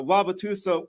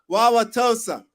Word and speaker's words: Wauwatosa: there here in uh wabatusa Wisconsin and they've just really have done a phenomenal job of bringing together I pronounce it incorrectly tosa Wauwatosa Wisconsin you know I I